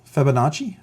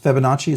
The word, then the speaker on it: Fibonacci: the uh uh uh fibbonacci I'm always struggling pronouncing that it's Fibonacci so that fibbonacci equation